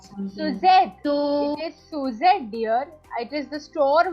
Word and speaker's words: Suzette: So, It is Suzette, dear.